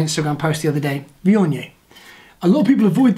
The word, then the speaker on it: Viognier: Viognier. A lot of people avoid this because they don't know how to pronounce it, which is heartbreaking because it's incredible.